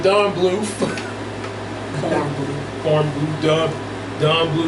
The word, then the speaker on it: Bluth: Just look at a cob of corn. Which rhymes with Don Bluth.